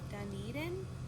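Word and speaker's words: Dunedin: went to that bookstore in that market in Duneden I that's how you pronounce it and then we went out to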